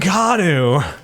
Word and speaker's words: Keanu: a weird way like you said in a weird way my name is I mean kanu that is not excellent you put some respect on his name sorry Keanu Reeves said it right um but yeah not